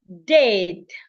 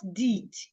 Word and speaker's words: dead: I also have dead. Not did dead. D I D. Letter I sounds e dead.